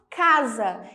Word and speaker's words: casa: som de z Sim ela assume o som de z então ela não tem mais o som de s quando ela aparece entre duas vogais mas mesmo assim eu gravo eu escrevo essa palavra com s vamos ver alguns exemplos casa olha o s está no meio de duas vogais a e a casa então ele é assumir